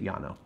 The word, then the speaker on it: Llano: of yanam estacado is there's a town in Texas called Lana felt the same way but they pronounce it yah no i mean the winery